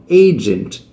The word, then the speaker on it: agent: Agent, puxa para cima no começo.